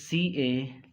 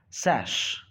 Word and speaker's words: cash: Now the word is CASH, that is CASH. This is the correct pronunciation. So it is cash, not sash.